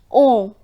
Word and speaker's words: on: Then it's on. We pronounce this as on.